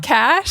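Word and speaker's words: cache: Okay, but it's spelled C A C H E. I feel like that is terrible for an audio format because it just sounds like hot cash.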